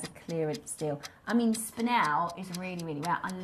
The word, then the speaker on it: spinel: That's why pronunciation is so important. It's spanel and topaz. It's spanel.